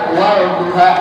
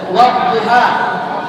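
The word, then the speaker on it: والضحى: Wadduha nggak ada dibaca, walduha nggak ada. Wadduha, kenapa Ustaz? Karena dhad huruf syamsiyah. Syamsiyah itu syams, matahari. Matahari itu ada dan tidak terlihat. Sama lamnya itu ada dan tak terbaca. Sehingga bacanya wadduha.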